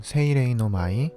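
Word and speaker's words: 蜻蛉ノ舞: 일본어로는 세이레이노마이, 후쿠간 로카쿠라고 읽습니다.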